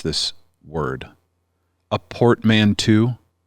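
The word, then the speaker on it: portmanteau: Yeah, it is a uh I don't know how to pronounce this word. A portmanto.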